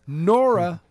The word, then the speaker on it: Nora: It rhymes with Dora, and we all know Dora is an explorer. That's just dumb. Nora.